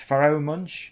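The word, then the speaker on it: Pharoahe Monch: It's Pharoah Monch.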